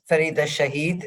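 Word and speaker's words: Farida Shaheed: So Farida Shahid is the pronunciation.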